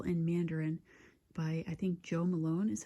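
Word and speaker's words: Jo Malone: And he said it was Lime, Basil, and Mandarin by, I think, Joe Malone is how you say it.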